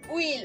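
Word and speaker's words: huile: Okay, we have wheel as well. Okay, so the H also is silent in French language.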